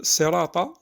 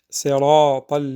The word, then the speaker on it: صراط: Donc ici, le sirata, il faut faire attention, c'est pas un sirata, c'est pas un sin, mais un sad.